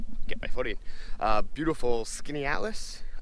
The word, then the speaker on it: Skaneateles: my footing uh beautiful skinny atlas i believe it's how it's pronounced in upstate new york i just got